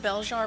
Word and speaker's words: Belzhar: plot summary absolutely um i pronounce it bell jar but i will answer